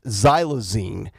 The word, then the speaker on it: xylazine: I believe it's pronounced xylazine, which is this terrible flesh-eating, destroying of your body drug.